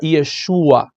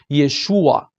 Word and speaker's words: Yeshua: verdadeiro nome do Messias o verdadeiro nome se pronuncia Yeshua Yeshua ó a Yeshua se você não consegue pronunciar